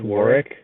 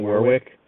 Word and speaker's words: Warwick: I think it's pronounced Warwick, not Warwick. But the Warwick Weaviles.